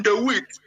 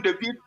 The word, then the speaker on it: de Witt: Now, Johan de Witt, or de Witt, according to the Dutch pronunciation, Johan de Witt was the grand pensionary.